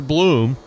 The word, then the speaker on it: Bloom: Now, Montiano spells his last name B-L-O-M, but he puts the extra O in there because it's pronounced like the actor Bloom.